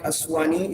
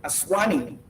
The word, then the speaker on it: Aswani: Frank Aswani, is the CEO, Aswani, pardon me. I just pronounced it like a Nigerian now.